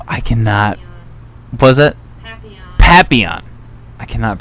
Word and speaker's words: Papillon: uh what the f i cannot was it papillon i cannot pronounce the name because i'm um yeah papiyan so i started out the trip watching that